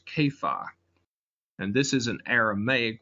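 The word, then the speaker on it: Kepha: Cephas or an aramaic it would have been pronounced caifa and this is an aramaic word which means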